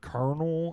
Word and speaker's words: Colonel: to name a son Colonel after my grandpa, because that's not my grandpa's rank in the military. It is his name. But it's spelled like Colonel, like Colonel and corn.